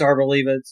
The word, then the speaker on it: Arboliva: rises of the Arboliva, and of course it's Arboliva. It's the Pokemon that we couldn't pronounce a couple episodes ago.